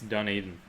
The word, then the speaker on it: Dunedin: Oh, and I've pronounced it wrong. Mad Kiwi says it's Dunedin.